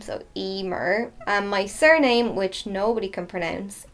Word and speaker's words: Eimear: most commonly asked question my name is pronounced Emmer so that's my first name so Emer my surname which nobody